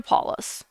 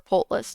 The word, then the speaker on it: Polus: going to go to paulus or portless depending on how you want to pronounce it um i'm going